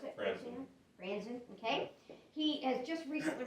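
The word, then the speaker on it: Franzen: Dave Franzan, is that how you pronounce it? Franzan, okay.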